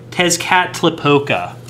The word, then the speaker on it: Tezcatlipoca: me try to figure out how this is pronounced, fam. Dark Lord Tezcatlipoca. Hold on, take two. Dark Lord Tezcatlipoca. I'm struggling, fam. Tezcatlipoca.